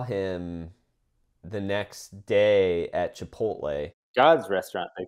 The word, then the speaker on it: Chipotle: And the guy was like, Chipotle.